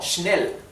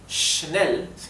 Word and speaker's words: schnell: Buch, Buch, CH al final se pronuncia La SCH se pronuncia como la SH inglesa, o sea, sh, sh, ¿sí? Sh, como schnell, schnell, que significa rápido en alemán.